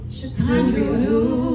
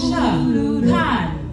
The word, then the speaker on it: Sha'Condria: Tell them, my name is pronounced Sha'Condria. That's Sha'Condria.